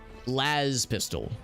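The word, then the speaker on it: laspistol: we're heading right now Laz pistol yeah with a long a gotcha like Hazard lastz pistol that makes sense oh is this Warp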